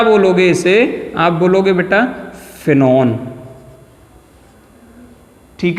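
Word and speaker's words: phenone: आप प्रोनाउंस जब करोगे तो आपके मुंह से ऑन निकलना चाहिए, ONE नहीं निकलना चाहिए। तो आप क्या बोलोगे इसे? आप बोलोगे बेटा फिनॉन, ठीक है।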